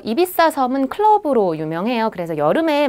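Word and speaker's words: Ibiza: 관광지는 일단 발렌시아 그리고 이비자 비사라는 하죠 이비사 섬은 클럽으로 유명해요 그래서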